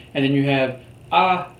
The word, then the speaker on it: hay: have already learned that the H is silent the a the letter A makes the a sound and the letter Y makes the e sound so when you put them all together you have a silent sound and then you